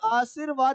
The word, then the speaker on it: आशीर्वाद: और आशीर्वाद देखिए यहाँ पे बिल्कुल गलत है, कि जब हम इसका उच्चारण करते हैं आशी प्लस वाद, और इसका उच्चारण जब होता है तय यानी के सह के बाद होता है तो बन जाएगा आशीर्वाद।